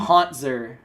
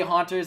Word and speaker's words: Hauntzer: Like, I'm sorry that I mispronounce it, but it's easier to say Haunters than it is to say Hauntzer.